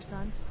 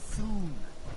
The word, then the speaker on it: Sun: Sun? It's Soon. What? Dr. Soon. Rhymes with moon?